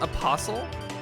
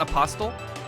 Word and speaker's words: apostle: It's pronounced apostle, not apostle.